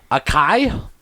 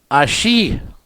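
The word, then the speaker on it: açaí: clue what they are akai acai never heard of it no oh pronounced ashi by the way okay still never heard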